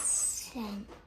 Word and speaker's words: scent: Doubt scissors listen not remember one of them is silent good job guess yolk Christmas send not send it's scent what does the e